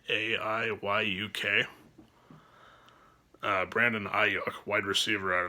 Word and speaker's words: Aiyuk: Brandon, I believe it's pronounced Aiyuk, Aiyuk.